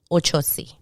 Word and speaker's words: Ochosi: very much the same ochosi it's just the osi is pronounced a little bit differently in spanish it's the same pronunciation